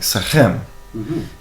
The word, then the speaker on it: SEKHEM: Well, the pronunciation of SEKHEM is more, it has a very unique sound that isn't in the English language. It is in the Semitic languages, and it has a more of a ch sound. So it's like SEKHEM, and that's traditionally closer to what it would be said, how it would be said.